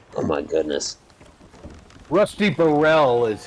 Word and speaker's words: Rusty Burrell: was it really his name oh my goodness Rusty Burrell is how they pronounced it but look at how it's yeah